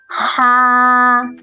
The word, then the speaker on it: ہ: Ha, Ha. In this letter, we pronounce this letter from our chest.